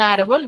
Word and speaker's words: árbol: Y lo mismo sucede con árbol, donde su mayor fuerza de voz está en ar, y la tildo porque termina en L.